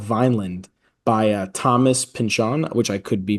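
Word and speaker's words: Pynchon: on a novel called Vinand by uh Thomas Pinchan which I could be pronouncing his name wrong. So I think right Tom I think I'm right. I think so. I think it's Pinchan Pinch.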